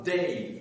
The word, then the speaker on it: Dey: Vous aviez à Tunis un Bey, B-E-Y, et vous aviez à Alger un Dey, D-E-Y, un D, un B, un D, pour être audible que j'ai les prononcer en distinguant donc les voyelles.